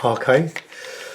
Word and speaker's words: hake: This is the inch hake, or hake, to use its correct term or pronunciation.